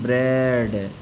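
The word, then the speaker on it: bread: जैसे बी आर ई ए डी ब्रेड A silent है।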